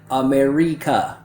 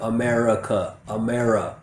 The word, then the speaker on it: America: students making is that they pronounce it too perfectly and they don't use the schwa sound. So usually what I hear is something like America, instead of America.